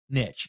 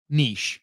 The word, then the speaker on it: niche: And that is picking a good niche or niche, however you want to say it.